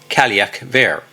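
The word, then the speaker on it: Cailleach Bheur: She also appears in Scottish folklore as the Ka um Buer, often pronounced as Kalak Ver, a blue-faced hag who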